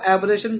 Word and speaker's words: aberration: एब्रेशन, जिसको word का pronunciation नहीं आता, वो इसको एब्रेशन करके हिंदी में लिख लो, एबरेशन।